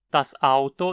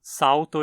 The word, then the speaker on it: das Auto: Das Auto ist rot. Das Auto ist rot. Não pronuncie como Salto ist rot. Você precisa fechar a garganta entre o S e a palavra seguinte, pronunciando uma parada glotal, como a fechada na